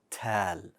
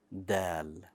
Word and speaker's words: د: will become a ta tal incorrect we don't want that hold the air so that it's pronounced as dal that being said those